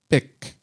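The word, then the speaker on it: Bích: as a young girl, and she was given the kind of traditional Vietnamese given name of Bic, kind of pronounced B-I-C, like the pen, but it is spelt B-I-C-H.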